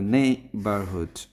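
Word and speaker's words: neighbourhood: তবে নেইবারহুড, নেইবারহুড, নেইবারহুড, এটা হচ্ছে নেইবারহুড। নে এর পরে আমরা স্ট্রেস দিব।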